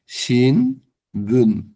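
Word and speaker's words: 新聞: শিন বুন মানে খবরে কাগজ বা সংবাদপত্র এটার উচ্চারণ হচ্ছে শিন বুন মানে খবরে কাগজ বা সংবাদপত্র এরপর ন থ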